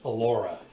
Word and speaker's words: Elora: how's the actual pronunciation? Elora. With a U? With an O.